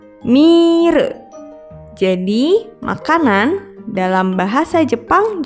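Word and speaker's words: ミール: Ditulis dengan huruf katakana jadi mi, strip, re, mire.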